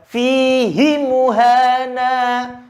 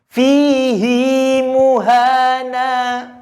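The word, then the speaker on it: فِيهِ مُهَانًا: Wayah ludes Fizi muhana bukan feedzy muhana SMS seperti itu maka cara bacanya bukan vc muhannad tapi dibaca panjang haknya fihi muhana satu orang lagi yummo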